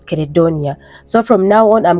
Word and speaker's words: Credonia: But when I made my research, I found out that they used to pronounce her name as Credonia.